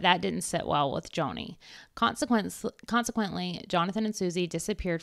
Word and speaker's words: Joni: In response to Jonathan and Suzy's growing concerns, I always say her name wrong. Joni? Joni.